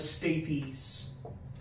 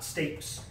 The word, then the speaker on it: stapes: which is called the stay piece so in the language that these words originated in the e would be pronounced a piece so not stapes so anyway those are